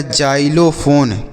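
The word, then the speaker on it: xylophone: एच ओ एन ई तो इसे हम पढ़ते हैं बच्चों एक्स से ज पढ़ेंगे तो ये हो गया जा लो फोन क्या हो गया एक्स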